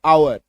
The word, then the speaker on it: hour: ठीक है, चलो कुछ शब्दों में आप देखिएगा कि एच के बाद ओ आता है तो एच साइलेंट हो जाता है। बहुत कम शब्द है ऐसा, जैसे HOUR, आवर, HONOR, ऑनर, ऑ, एच है लेकिन इसका साउंड क्या आ रहा है, ऑ।